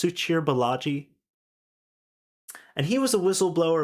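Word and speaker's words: Suchir Balaji: for open AI uh suchir I think it's pronounced suchir bellagi and he was a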